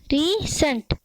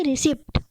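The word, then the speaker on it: receipt: रसीद को हम इंग्लिश में रिसीट, ना कि रिसिप्ट। रिसिप्ट गलत है, इसको सही उच्चारण क्या है?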